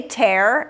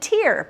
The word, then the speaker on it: tear: So, if I said to you um to rip, but also an eye lubricant, you would say tear and tear because they're spelled the same way, right?